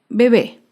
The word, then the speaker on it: bebé: Otro ejemplo es la palabra bebé. Bebé es una palabra aguda. Se acentúa en la última sílaba y lleva tilde porque termina en vocal.